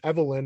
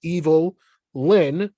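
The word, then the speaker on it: Evil-Lyn: of those people that thought her name was Evelyn and they were just calling they were just pronouncing it funny but her name is evil Lin and do you remember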